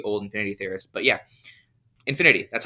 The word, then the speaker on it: InfiniT.: is still the old Infinity theorist but yeah Infinity that's how it's pronounced uh INF or capital I lowercase n